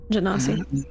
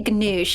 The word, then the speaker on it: Genasi: Genasi. Water I always want to say ganoosh, and I'm like, that is not the fucking word, and It's it's not even pronounced.